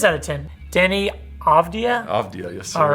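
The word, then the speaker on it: Avdija: I believe it's Avdia. Avdia. All right, from the Bullets. This is out of 10. I'm sorry, this is not out. Yeah, it is out of 10. Denny Avdia? Avdia, yes, sir.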